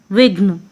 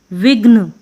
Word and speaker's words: विघ्न: यहाँ पे भी विघ्न, ना कि बोलेंगे विघन, विघ्न।